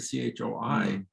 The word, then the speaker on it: Choi: lot of people like the C-H-O-I, which comes out Choi in America. Right, people say Choi. No matter what you do. I'd recommend people spell C-H-E if you want to get good pronunciation. If you do C-H-O-E, Cho rhymes with Joe.